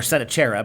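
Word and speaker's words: Sennacherib: that the assyrian king seneca rebel 704 to 681 bc uh or said a cherub as i've heard it pronounced built in his capital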